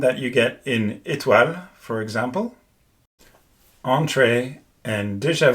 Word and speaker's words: étoile: And the thing to remember here is that you have to close your mouth as much as you can to pronounce this E accent aigu. Like in French again, étoile or mérite.